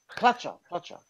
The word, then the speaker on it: Pletcher: Pletcher. That's how you pronounce it.